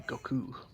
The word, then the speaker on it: Goku: Kai as well, but they actually pronounced it the Japanese way. Please. Because you're supposed to put more emphasis on the ku than the go. So technically it would be Goku.